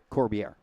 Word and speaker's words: Corbier: Corbier. Corbier. Okay, I got you. Has that French look to it, but just don't pronounce it French.